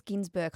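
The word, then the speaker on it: Günsberg: And it is Ginsberg, I believe that's how you say. I know Even it's though not it's spelled that.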